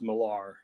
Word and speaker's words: Millar: miller with an e actually it's uh it's pronounced malar oh it is millar okay okay i you know sometimes almost nobody